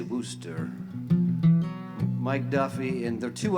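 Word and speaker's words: Worcester: songwriter from wooster uh people like you and me wouldn't know how to pronounce that necessarily but people from the boston area you know how to say wooster mike duffy and they're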